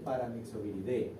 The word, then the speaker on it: Paramyxoviridae: Aunque se escribe Paramyxoviridae, cuando ustedes lo van a leer, se lee Paramyxoviridae. Todas las familias, siempre que se leen, terminan en D, aunque ahora dice DAE.